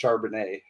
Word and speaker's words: Charbonnet: By the way, Todd, I believe it's pronounced Charbonnet.